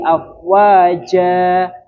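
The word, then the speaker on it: أفواجا: Di surah Annasr yang ini yadkuluna fi dininillahi afwaja ja itu kan anu fathah tanwin kemudian diikuti akhirnya alif maka di sana harus dibaca panjang seperti itu.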